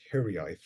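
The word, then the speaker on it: hiraeth: into a hiburn and the title of that hiburn is hii so I'll pronounce that again hii and H is a very unusual almost unique word in the in the Welsh language and it's it's untranslatable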